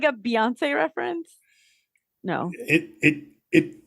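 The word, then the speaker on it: Beyoncé: often wrong about things well it's Beyonce and yes it's spelled b-e-y but it's Beyonce so if you shorten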